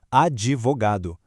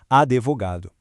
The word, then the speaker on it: advogado: O correto é advogado, enquanto o incorreto é advogado. O grande lance aqui é focar na articulação bem limpa e seca daquele D mudo e fugir de qualquer jeito da tentação de colocar uma vogal E no meio da sílaba.